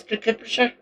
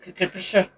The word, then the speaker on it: Kirkcudbrightshire: It's Kirkcudbrightshire. That's how I pronounce it, which is down south from here. It's down nearer to the English border. But I've always pronounced it Kirkcudbrightshire.